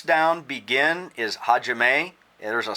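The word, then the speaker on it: 始め: 6 down, begin is hajime. There's a silent H at the beginning. It's hajime, not ajime. It's kind of silent.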